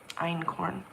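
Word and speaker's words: einkorn: German word I think e i n k o r n and iron corn let me see if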